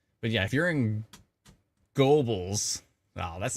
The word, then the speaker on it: Gobles: Gobles. Oh, it's Gobles? Go Bells. Everybody's pronouncing it differently. It's not Gobbles. If I lived there, I'd be pronouncing it Gobbles. But Gobles.